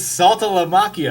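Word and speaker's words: Saltalamacchia: I was like, "It's Salta La Macchio." I was like, "It's just like what it, you say it phonetically, really."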